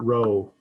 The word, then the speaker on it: rho: correlation coefficient but it's this guy and we pronounce it rho it looks like a script p it's the greek letter rho we use greek letters for population parameters in